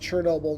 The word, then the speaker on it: Chernobyl: the one before, pointing out that it is pronounced Chernobyl no matter how it's spelled, which I had a hunch, but I do like to check on these things.